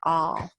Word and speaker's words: et: And then you're going to say afterwards et al, which is short for et alia, which means and others. Et means and that's Latin, but you probably know in French, et is pronounced a, and that means and alia means others.